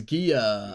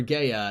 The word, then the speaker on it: Gaia: This is Gia, I think. Gia the Fierce Knight, or Gaia. Not sure how to say it. Again, not a Yu-Gi-Oh! Pro. Gaia, yeah. Gaia seems better.